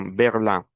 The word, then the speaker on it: Berlin: Attention à la prononciation, Berlin.